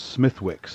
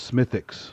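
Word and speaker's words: Smithwick's: beer called uh smithx it's Smithwick but it's smithx Smiths Smiths it's yeah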